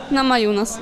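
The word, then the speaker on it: Namajunas: Właśnie, Nama Hunas, Nama Yunas, to różnie komentatorzy ją wymieniają, amerykańscy. Ty spotkałaś się z jaką wymową? Nama Yunas. Nama Yunas, czyli zostaniemy przy Nama Yunas w takim razie.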